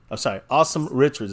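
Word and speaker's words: Asim Richards: Awesome Richards is how you say his name. Yeah. Awesome Richards.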